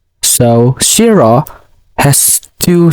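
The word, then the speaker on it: しろ: And the fourth word is shiro. So shiro has two syllables.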